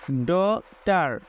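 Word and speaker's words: daughter: ইউ ড জি এইচ টি ই আর টার ডটার এখানে একটি বিষয় মনে রাখবেন কিছু ক্ষেত্রে জি এইচ এর উচ্চারণ উজ্জ্ব থাকে তবে এই শব্দে জি এইচ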